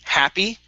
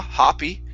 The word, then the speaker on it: happy: word h excuse me happy instead of ha hoppy it's ha happy happy happy okay very good